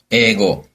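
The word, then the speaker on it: 英語: 자 그럼 일단 과목을 알아야 대답을 하니까 과목의 발음을 배워 보겠습니다 자 일단 구경수 기본이기 때문에 국어 어떻게 되죠 고고 영어는 에고 수학은 수가 그렇죠 고고 에고 스가 기억해 주시고요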